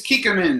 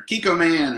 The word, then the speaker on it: Kikkoman: It is Kikkoman or Kikkoman or however you want to pronounce it.